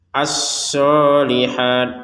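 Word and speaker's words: الصالحات: Asolihat shadnya ditekan.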